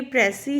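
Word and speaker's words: précis: ये प्रेसी है, S silent है। अगर इसके पीछे ई लगा होता तब ये प्रिसाइज हो जाता। मतलब वही रहेगा लेकिन ये प्रोनाउंसिएशन में फ़र्क है। ये वर्ड फ्रेंच वर्ड है जिसका मतलब होता है एक्सप्रेस एक्यूरेटली।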